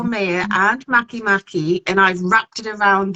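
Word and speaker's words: Makemake: we have Eris and then we have um Maki Maki which is spelled it's written make make but pronounced Maki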